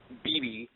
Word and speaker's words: Beebe: Lots of people forget how to pronounce my last name. The BB gun. Yeah, just think of 2 B's.